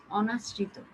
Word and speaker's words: অনাশ্রিত: হবে উচ্চারিত হবে না, একদম স্ট্রেট উচ্চারণ হবে অ। অনিয়ম, অমর, অনাশ্রিত, একটাও এভাবে হবে না যে অনিয়ম, অমর, অনাশ্রিত, এরকম কিছু হবে না। হ্যাঁ, এখানে অটা একবার অর মতো উচ্চারিত হবে।